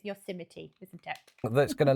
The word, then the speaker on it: Yosemite: It looks like it should say Yosemite.